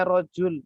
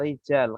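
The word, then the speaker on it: رجل: Nah, ini bacanya rojul tidak rijal.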